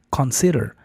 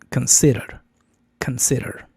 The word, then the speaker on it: consider: inicio, no es con, porque lo vemos escrito como con decimos, ah, consider, consider, pero eso no está correcto. Debe de ser con shua. Ken, k, en lugar de con consider. La primer sílaba es débil, o sea, es una shaa, no una con española fuerte. Y el acento cae en s consider.